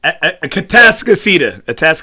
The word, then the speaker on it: Atascocita: How do you say it? Atascocita. No, he said Atascocita. Atascocita? Oh, shoot, man. I've been wrong the whole time. Right here.